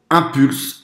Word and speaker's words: Impulse: s'agit de celui ci c'est impulse le prononce comme un bon français écoutent 180 dollars donc